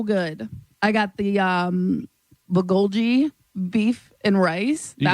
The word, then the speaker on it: bulgogi: I got the um bulgogi beef and rice. You got it. That's how it's pronounced.